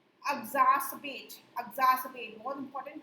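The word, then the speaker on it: exacerbate: इसका प्रोनाउंसिएशन है एग्जास्पेट।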